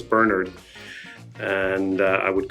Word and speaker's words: Bernard: it take a listen I used to tell Americans that my name wasn't Bernard it was Bernard and I would correct